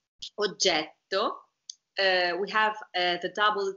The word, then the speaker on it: oggetto: Oggetto. This is how you pronounce the double T while you speak. While you speak, not when you sing.